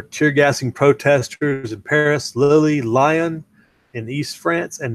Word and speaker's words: Lille: And that was in the northern city of Lille, as I would say it. They probably say Lille in French or something.